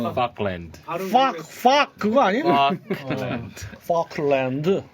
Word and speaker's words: Falkland: Falkland. 네.